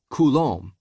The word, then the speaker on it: Coulombe: The point is that Coulombe is pronounced Coulombe.